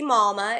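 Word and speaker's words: Mawma: So um I wanted my my wine to be fun and messy malma is literally what I am. And I wanted to spell it like mama like I do.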